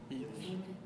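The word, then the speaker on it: Heatley: looks like Heatltey. That's close enough. Yeah. Spell it. Yeah, it's Heatltey, H-E-A-T-L-E-Y.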